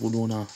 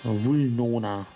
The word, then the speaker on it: Vulnona: Vulnona. Okay. Die ganze Zeit falsch ausgesprochen. Verdammt. Seit Jahren falsch ausgesprochen.